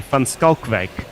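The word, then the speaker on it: Van Schalkwyk: Assuming it is South African, I haven't seen the spelling, but it should be Van Schalkwijk.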